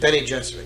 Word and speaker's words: Bene Gesserit: Bene Gesserit, you pronounce it? Bene Gesserit, yeah.